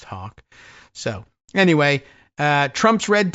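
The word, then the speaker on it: Haake: H A A ke is my best guess. I I I've I've seen that name spelled variously and uh it's as far as I know pronounced Hawk.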